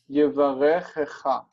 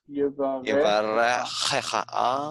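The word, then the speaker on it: יברכך: When you have two of the same syllables, or the same consonants side by side, you've got to stop that. So you have to put it Yevarechecha. Yevarechecha. Yevarechecha. Okay. Yeah, it's got to have a break.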